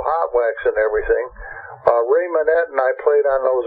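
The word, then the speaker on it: Monette: Is that how you pronounce it? Ray Manet, yeah.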